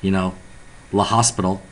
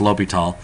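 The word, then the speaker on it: L'Hôpital: I know it looks like, La Hospital, but it's just some fancy French guy with some fancy snob name, whatever. So it's pronounced L'Hopital.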